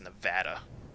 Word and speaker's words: Nevada: They totally pronounced that wrong. That's so wrong. Yeah, totally. It's Nevada.